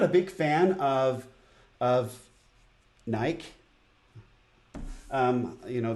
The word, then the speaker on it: Nike: a big fan of naik you know they want me to pronounce it Nike but it's naik it's felt like you